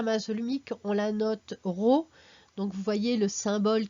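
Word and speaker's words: ρ: la masse volumique donc n'oubliez pas que ça se prononce ro alors un petit exemple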